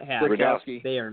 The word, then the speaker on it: Rudkowski: Because that's how it's spelled. Rudkowski. Right? We are yeah, change it's pretty simple. And it's Polish. It's a Polish name.